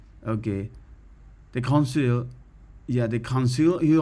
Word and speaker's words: Conseil: It's not can, it's con.